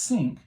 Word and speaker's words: Cinque: that was called the Cinque Ports, it was spelled Cinque ports. But it's pronounced Cinque, which is a really stupid name for a ship if you Yeah.